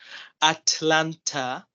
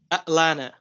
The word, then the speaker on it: Atlanta: what we are going to do is we're going to eliminate the pronunciation of the T sound. So Okay. what we are going to do is we're instead of pronouncing Atlanta, we're gonna Mm-hmm. say Atlanta, Atlanta, Atlanta.